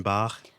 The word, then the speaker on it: Bach: but uh she was basically like you know pronounce it this way so now i say johan sebastian bach for all of the bach fans i well